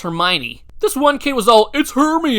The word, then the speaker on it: Hermione: ron ron is poor and of course there's hermione oh emma she's so cute sorry but that